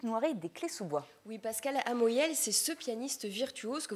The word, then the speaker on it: Amoyel: à vous vous venez me présenter aujourd'hui pascal amoyel est ce que je le prononce bien oui tout à fait il offrait un spectacle samedi soir à l'espace est philippe noiret des clayes-sous-bois oui pascal amoyel c'est ce pianiste virtuose que vous entendez aussi